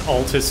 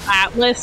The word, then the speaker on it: Altus: hard to see because altus is already very gold i was pronouncing it atlas at the time so that was a